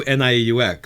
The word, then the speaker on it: Nieux: But no one's trademarked new NIEUX. So I think, yes, the Nieux Society is spelled NIEUX with a little French New Orleans flair.